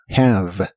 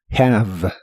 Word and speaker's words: have: La H se pronuncia como una J suave, have, have, y practicarás con el verbo prefer, que significa preferir.